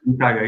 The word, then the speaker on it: Santaga: Pronunciation is correct, Santaga? or I was wrong? Santaga is correct.